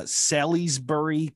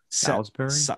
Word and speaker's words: Salisbury: memorial library in uh sallysbury connecticut i might have butchered that name silas berry s s-a-l-i-s-b-u-r-y south salisbury like salisbury steak i don't know maybe